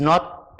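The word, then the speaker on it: know: Your K is silent. The sound is not kn.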